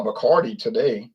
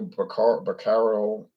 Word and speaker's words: Bacardi: He said, I used to get, he pronounced it wrong, though, Bacaro or whatever. I said, Bacardi 151 is discontinued.